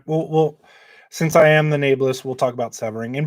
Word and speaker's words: Nae'Blis: Nebulous is incorrect. It's Nae'Blis.